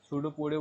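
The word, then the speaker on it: pseudopodia: द सूडोपोडिया, सूडोपोडिया बोलेंगे इसको, ठीक है, पी साइलेंट रहेगा स्पेलिंग के अंदर।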